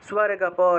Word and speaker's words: স্বর্গপরা: 43 নম্বর, কামাত্মা, কামাত্মানঃ, কামাত্মানঃ স্বর্গপ, স্বর্গপর, এই যে কামাত্মানঃ বলার সাথে সাথে দন্তস্বটাকে ধরতে হবে, কামাত্মানঃ স্বর্গপরা, কামাত্মানঃ স্বর্গপরা, কামাত্মানঃ স্বর্গপরা, দন্তস্বয়ের সাথে বফলা থাকায় স্ব উচ্চারণ।